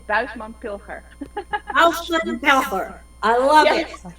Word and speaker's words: Buisman Pilger: Bushman Pilger, or if you want to pronounce it in Dutch, it's Buisman Pilger.